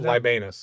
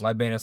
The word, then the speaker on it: Libanus: Libanus. Libanus Lodge. Like the forest of Libanus, so.